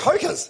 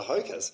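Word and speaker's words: Hokas: Hokers? Yep. Yeah. Is that how you say it? Hokers.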